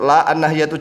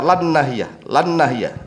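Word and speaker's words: لا الناهية: Cara membacanya ini saya tunjuk, la an-nahiyatu, jangan dibaca lan nahiyah, ya, nanti bingung. La an-nahiyatu, begitu cara bacanya.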